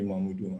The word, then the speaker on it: Mamudu: I prefer the Mamudu and his name.